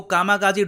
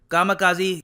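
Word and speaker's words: kamikaze: इनको कामाकाजी drones भी कहते हैं। यहाँ पे आप कहोगे कामाकाजी, कामिकाजे भी प्रोनाउंस करते हैं, कामाकाजी भी प्रोनाउंस करते हैं, both of the pronunciations are right.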